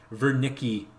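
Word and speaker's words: Wernicke: also going to contain ver Nicci area so that's a German name you pronounce the W with a V even though probably 95%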